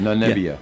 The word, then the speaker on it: Namibia: got 85% of the vote for the first time he ran for office in Namibia. Is that how you say it? Namibia.